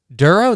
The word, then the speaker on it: Dorough: It's pronounced Dorough, like thorough. Dorough, that's it?